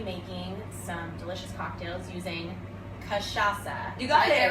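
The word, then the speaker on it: cachaça: was national katrasa day kashasa kashasa and it's not the easiest word to say she gave me a good tip earlier it's like Sasha but yeah um and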